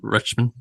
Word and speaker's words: Rutschman: Yeah, Adley Rutschman.